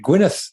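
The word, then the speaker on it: Gwynedd: i looked it up spell e d d at the end that was how they pronounced it was a place of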